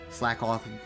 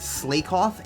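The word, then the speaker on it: Slakoth: And so the amount of times I've heard them pronounced slakeoff and slaking is just like, do you not understand that the joke is that they are slacking off? So that's why it's slack off cuz he slacks off.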